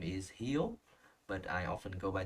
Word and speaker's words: Híu: So obviously the name Híu is pronounced Híu in the southern accent.